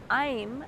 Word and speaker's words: Aim: Aim, A-I-M, is this seed syllable.